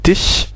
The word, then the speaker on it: Tisch: Et das Automobil, das Kind, voilà, der Tisch, donc ici c'est Tisch, S-C-H, se prononce ch, normal.